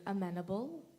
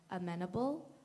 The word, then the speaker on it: amenable: contestant your word is amenable this word has two correct pronunciations amenable amenable amenable may I